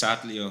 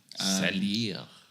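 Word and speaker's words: Saldier: This Sadlia horse, or Saldia. Saldia. He's French, you have to pronounce it like that.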